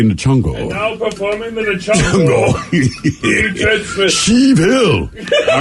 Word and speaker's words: Sheev: Sheev. Yeah, kind of like Steve, but if you say it wrong.